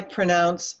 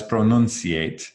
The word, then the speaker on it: pronounce: No es pronunciate. No es pronuncio. Pronounce. No, it's pronounce.